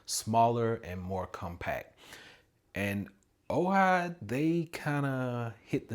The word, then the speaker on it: AOHI: I've been using Ohigh for a long time, and it is spelled A O H I, but pronounced Ohigh.